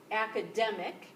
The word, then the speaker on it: academic: part so for example academic this is the stress syllable ack uh Dem ick so that's um that